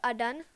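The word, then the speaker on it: DeathAdder: Et une souris un peu moins chère, donc c'est la Razer Death Adan. Je crois que ça se prononce Adder, pardon.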